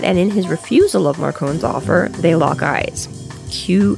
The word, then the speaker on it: Marcone: an ally and now we've got gentleman johnny marcon and we are going with the pronunciation marcon because um i looked up some